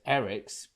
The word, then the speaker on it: Arex: We finally get a name and a voice for Lieutenant, and it's pronounced Eric's, but it's written down Arex.